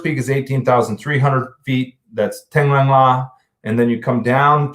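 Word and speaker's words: Taglang La: Tenglang La, and they pronounce it in that region, Donglang La is the second peak.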